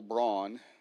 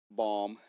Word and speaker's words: Baum: His name was L. Braun. Let's see here. L. Frank Baum, actually. I mispronounced that.